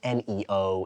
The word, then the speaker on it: NIO: Neo right but but at least Neo is it's just nio but it's Neo it's new it's like and it's easy to pronounce and everything yes an